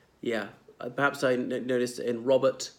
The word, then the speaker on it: Robert: Yeah, perhaps I noticed in Robert, the second R is skipped out, whereas the T is pronounced very distinctly.